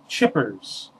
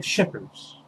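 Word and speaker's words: Schippers: here this little book fell out by david chippers david p shippers sorry david if you're out there and you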